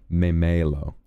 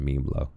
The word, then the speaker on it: Memelo: Also, while I'm here, we got a lovely Streamlabs tip from someone who I now understand is called Memelo, rather than Memlo.